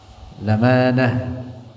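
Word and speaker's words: الأمانة: Wajibun, dan wajib, fi haqqihim, pada hak mereka para nabi, al-amanah, bacanya begitu, lamanah.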